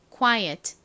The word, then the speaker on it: quiet: 이죠 다름 해 보겠습니다 quiet 티를 약하게 발음해 주세요 quiet 좋습니다 자 같이